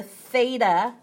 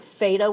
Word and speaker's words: theta: this funky symbol is known as the Greek letter theta with a th I have to specify that because a lot of people try and pronounce it fada with an F it's